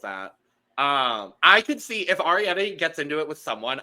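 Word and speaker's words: Arrietty: I could see if Arietti gets into it with someone, I could see it being Sam. You got to say it right. Arietti. It's like air.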